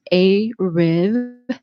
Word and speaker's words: ARIV: We are talking to Sydney Marks and we are talking to Anika Rivers of the A-Riv.